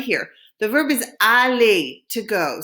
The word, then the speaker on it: aller: The verb is aller, to go. Say it after me. It's aller.